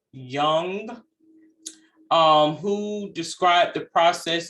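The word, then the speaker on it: Jung: psychiatrist a psychiatrist called young and it's spelled j-u-n-g and i want to say that it's pronounced as young um who described the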